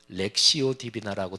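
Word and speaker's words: lectio divina: 성경 통독 또 중세의 렉티오 디비나 렉시오 디비나라 많이 발음을 하고 한글로 거룩한 독서라고 많이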